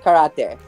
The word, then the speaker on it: karate: a lot of times is mispronounced is karate. It is not karate. I really get super cringed out when people say it like that. Yeah. It is not karate. It is karate. It is a Japanese martial art form. That E does not make that sound ever in Japanese.